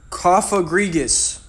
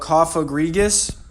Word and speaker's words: Cofagrigus: You know, like a coffin, but Cofagrigus. I think that should be the right way to pronounce it.